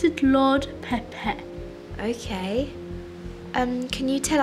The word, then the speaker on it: Pepe: the owners then all right you are Lord pee pee is that correct no you pronounce it Lord Pepe okay um can you tell us anything about